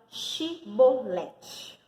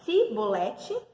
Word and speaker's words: Shibolete: Se dizia que não, então lhe pedia que dissesse a palavra Shibolete. Se, no entanto, dissesse Sibolete, porque não conseguiam pronunciar corretamente a palavra, eles os prendiam e o matavam na passagem do Jordão.